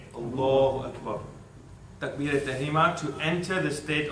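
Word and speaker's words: الله أكبر: And yes, the pronunciation is important as well. It's Allahu Akbar. Repeat after me. Allahu Akbar. Allahu Akbar.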